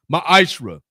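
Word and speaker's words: מעשר: means 10th in the Hebrew is pronounced maishra 10% of every penny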